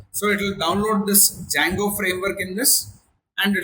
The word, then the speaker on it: Django: To create a project, there is one command, that is Django, that is Django, D is silent, minus admin start project, followed by the name of the project in this case.